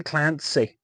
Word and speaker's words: Clancy: it's uh good Tom Clancy he knows what he's doing and his name rhymes with Nancy but it's not that's